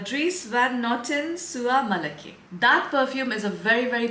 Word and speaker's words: Soie Malaquais: I wrote down the pronunciation because I don't know how to pronounce this brand. It's Dries van Noten Sua Malaki.